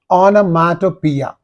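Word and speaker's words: onomatopoeia: figure of speech or a literary device here onomia onomia this is the correct pronunciation of the word aatopia is a literary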